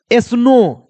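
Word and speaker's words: snow: कहिएगा सर कैसे, जैसे देखो स्नो, यहां पर लास्ट में क्या दिया है ओ डब्ल्यू, तो ओ डब्ल्यू के लिए देखो हमने मात्रा लगाया है ओ का, क्या है स्नो।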